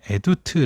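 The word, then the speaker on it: עדות: 표현을 하기도 합니다 2 원어 발음으로는 에디트 라고 라는 단어가 사용이 되어 있는데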